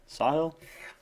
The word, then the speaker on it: Sahil: Hey guys, I'm Sahil. That's spelled Sahil. And how I explain the pronunciation to my teachers is like, I saw a hill, right? Saw a hill. Sahil, right?